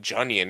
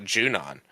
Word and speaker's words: Junon: Oh well, I mean, I said I can't even tell you how many times I said Junion and not Junon.